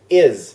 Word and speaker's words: is: ตัว อย่าง ก็ เช่น is this is IS IS IS นะ ครับ จะ เป็น เสียง Z แต่ ไม่ ใช่ is จะ เป็น IS จะ เป็น z แบบ เล็ก ๆ ข้าง หลัง นะ ครับ is ไม่ ใช่ เสียง S ถึง แม้ ว่า จะ สะกด เป็น ตัว S แต่ ว่า เป็น เสียง Z นะ ครับ อีก อย่าง นึง ก็